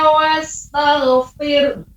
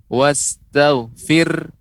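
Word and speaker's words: واستغفر: Fasabbih bihamdi rabbika wastaghfir. Nah, pengucapan wastaghfir. Ini juga wastaghfir, bedakan di sini ada huruf H. Makanya kita berikan haknya, kita berikan huruf tersebut.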